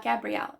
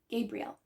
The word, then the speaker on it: Gabrielle: It's not Gabrielle, it's Gabrielle.